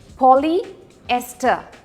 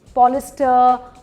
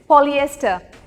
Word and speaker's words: polyester: Now the right way of saying this is polyester, polyester. ये दो sounds हैं जो जाने चाहिए। सो पूरी तरीके से बोलना है, पॉलिएस्टर, पॉलिस्टर, पोलास्टर, पता नहीं क्या क्या मैंने सुना है, बट इट्स पॉलिएस्टर।